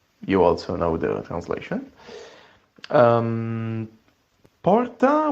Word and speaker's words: porta: Porta would be door in English, and it's almost good. I mean, it's nice. Of course, you in English have the R and not R, a bit more, rough pronunciation of the R, but it's okay. I mean, it's also understandable by an Italian, I guess.